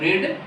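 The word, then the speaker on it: read: जैसे I have रीड book, मैं, और रीड का जो है तीनों फॉर्म में एक ही होता है, बस प्रोनाउंसिएशन में थोड़ा अंतर होता है, रीड रेड रीड, लेकिन स्पेलिंग तीनों की एक ही होती है।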